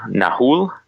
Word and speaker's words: Nahuel: And it's not SAWFT either. It's NAHUEL, Nahul. I'm so going to get yelled at for that.